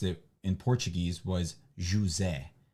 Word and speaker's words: José: I mean, but the problem is that the name Jose in Portuguese is not pronounced Jose. It's pronounced José.